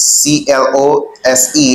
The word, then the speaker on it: close: Here, listen to the way I pronounce this. C-L-O-S-E. I say close to. Normalement, mot sa pou kont li, li gen son z ki sorti la dan.